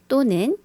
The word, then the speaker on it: 구사년생: 94 년생 or 또는 or pronounce it “구사년생.” 구사년생 이라고 얘기해요.